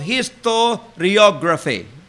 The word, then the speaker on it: historiography: Historio. H-I-S-T-O-R-I-O. G-R-A-P-H-Y. Historiography. Now, let's consider the first one.